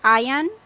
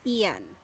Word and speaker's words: Ian: yeah yes yeah okay some are pronouncing this word is ion but for British people it's Ian yeah yes and he's